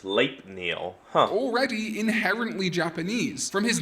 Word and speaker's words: Sleipnir: Oh, I've heard it pronounced Sleipnir.